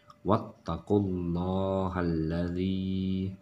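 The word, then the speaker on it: وَاتَّقُوا اللَّهَ الَّذِي: adalah dhammah atau fathah, maka penyebutan ataupun pengucapannya adalah loh, bukan lah, ya. Walaupun tanda di sini adalah tanda fathah. Wattaqullahalladzi, seperti itu. Bukan wattaqullaha, bukan seperti itu ya.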